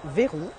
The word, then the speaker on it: Veyron: So this is French. This is why I'm pronouncing Veyron.